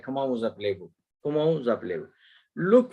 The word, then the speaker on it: comment vous appelez-vous: When you pronounce it like it gets a liaison, so you pronounce it like comment vous appelez-vous.